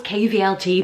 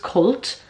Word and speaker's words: KVLT: It was when she was based in, so I thought it was KVLT, but I actually think it's pronounced Cult.